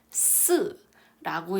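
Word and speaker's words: 四: 봐도 좀 알지 않을까요 4는 중국어로 읽었을 때 스라고 읽죠 근데 얘는 죽다 의미를 가진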